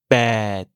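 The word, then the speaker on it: แปด: Le P se prononce sans souffler d'air, suivi d'un E long. Le T final met comme toujours fin au son, et il se prononce comme le 4 avec un ton bas, c'est-à-dire avec une voix grave et une intonation qui descend. Bad.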